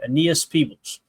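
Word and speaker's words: Aeneas Peebles: Up next, we got Annias Peebles. Is that how you say it, guys? Do we know how to pronounce their name yet? I thought it was Anias. Anias. Okay. Anias Peebles.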